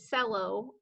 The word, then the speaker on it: cello: Oh, that one's tricky. It doesn't sound like how it's spelled. It looks like cello, okay, but it's pronounced cello.